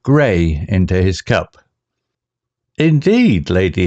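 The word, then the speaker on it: Grey: inquired while pouring the earl gray pronounced gray into his cup indeed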